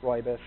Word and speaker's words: rooibos: it looks like rooibos r-o-o-i-b-o-s is spelling it's pronounced roybus um the republican team was the first company to bring roybus to the domestic market basically we found people had no idea what is ruibos how do i say it so we just